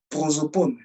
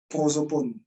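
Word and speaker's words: πρόσωπον: un mot, le mot grec, c'est le mot prosopone. Prosopone. P-R-O-S-O-P-O-N. P-R-O-S-O-P-O-N. Bon, ça se prononce à la fin, il y a 2 points.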